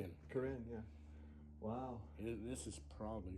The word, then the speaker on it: Corinne: Corinne, yeah.